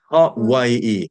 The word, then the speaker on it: Hawaii: pronunciation of the word. ha, vai, Yeah. e, Hawaii.